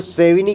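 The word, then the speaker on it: Savigny: सेविग्नी की बुक है इसको सेविनी कहते हैं लेकिन मैं सेविग्नी इसलिए बोल देता हूं क्योंकि हमारा स्पेलिंग मिस्टेक ना हो जो हम एग्जाम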